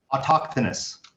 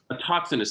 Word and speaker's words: autochthonous: And many people, not just Greeks, have this myth where they're I can't pronounce the word autonomous. What, Cole, help me out here. Autochthonous. Autochthonous. Thank you. Autochthonous.